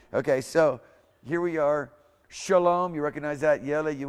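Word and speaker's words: שָׁלוֹם: Shalom.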